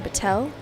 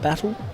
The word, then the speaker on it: Battel: Wide, Aliso, and Ruben Battel. 816 Verun Tanjung Westernhurst Maverick Wilson and Takuya Hungo. It's Battel, not Battle Battel.